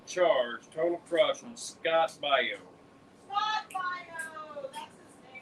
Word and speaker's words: bayou: Scott Bayou, pronounced Bayo.